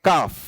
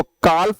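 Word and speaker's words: calf: Next मेरे पास आती है प्यारी सी काओ, और काओ के बेबी को भी बोला जाता है काफ, राइट। इसको काल्फ प्रोनाउंस मत करना, एल रहता है साइलेंट।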